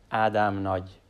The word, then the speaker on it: Ádám: So it should be pronounced as Nagy. Ádám Nagy.